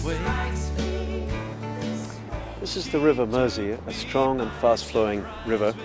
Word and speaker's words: Mersey: and if you want to pronounce it the Liverpool way, you have to say Mersey, you know, with a Scouse accent.